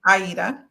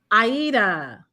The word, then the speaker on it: Adia: No, I just want to let you know it's pronounced Aida. Aida.